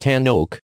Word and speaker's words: Tanoak: US Pacific region and it is pronounced tan oak like the tree built on the same